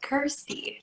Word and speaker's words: Kirstie: I always knew that I wanted to keep the word thirsty around me because it rhymes with Kirstie.